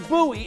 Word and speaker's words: Bowie: Sam Bowie is how you pronounce it.